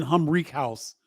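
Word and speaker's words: Humrichous: house is it Ben humri house is how you pronounce the young man from Evansville oh check it out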